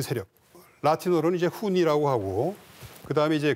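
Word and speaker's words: Hunni: 배우에 있었던 그 세력 라틴어로는 이제 훈니라고 하고 그다음에 이제 그 그리 그 그리 사람들은 운노이라고 H 발음을 안 하고 운노이라고 이제 표기를 그 했는데요.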